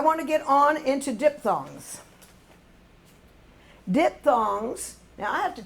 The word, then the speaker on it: diphthongs: But it is pronounced dip with a P. That PH sounds like a P, and thongs.